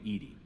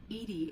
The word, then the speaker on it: EDI: behind the medical bay why are you named edie edie is the phonetic pronunciation of edi that is an acronym for